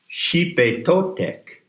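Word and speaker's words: Xipe Totec: Now let's go to the next name, Xipe Totek. It's spelled X-I-P-E because the X in transliteration of the Nahuatl is a SH sound.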